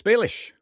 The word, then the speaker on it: Balish: And a huge hospitality meets welcome to Douglas Baish.